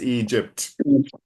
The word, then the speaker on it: Egypt: No, but so it's Egypt harsh consonant sound.